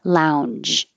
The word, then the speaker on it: lounge: will kind of make a sound Lounge Lounge but you need the sound in your throat to make the J which turns into the if not it will sound like a cha lounge and that's not a word so Lounge VIP lounge